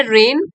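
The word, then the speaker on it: reign: हो अद्वितीय फिर है रेन रेन का मतलब होता है शासनकाल period during which a ruler rules शासनकाल ठीक है जी साइलेंट है नेक्स्ट इज डिस्पेंस टू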